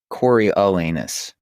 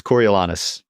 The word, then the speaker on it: Coriolanus: it takes isn't it I have Corey elanus is how you pronounce that dude from the movie I wrote it like I wrote after I saw the movie I realized I was pronouncing everyone's name wrong oh absolutely yeah and